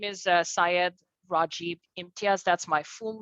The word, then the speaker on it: Raj: friends would say so is that like a spanish j is it and so i said you know what it seems like people here have difficulty pronouncing five letter words so let's just keep it simple three letters r a j raj can can't uh you